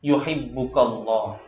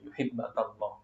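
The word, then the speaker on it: يحبك الله: Izhad fid dunya yuhibbukallah. Izhad fid dunya yuhibbakallah. Ya, yuhibbakallah bacanya.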